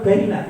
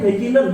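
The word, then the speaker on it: بَيِّنٌ: Al-halalu bayyinah. Itu bacanya bayyinun bukan bayyinah. Al-halalu utawi halal itu bayyinun. Iku pertelo. Pertelo itu apa? Jelas, bukan al-halalu bayyinah.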